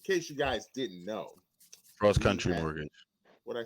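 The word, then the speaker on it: CrossCountry Mortgage: Cross County. You've been saying it wrong every week. I do. I say every Cross County. It's cross country. It's cross country. It's the R is right there. It's cross country mortgage.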